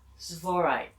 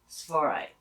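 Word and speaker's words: Tsavorite: with Venus, then you might want to use Svorite garnets. That's T-S-A-V-O-R-I-T-E. Svorite. It's hard when you see it. It's hard to read it, but that's how you pronounce it. Svorite.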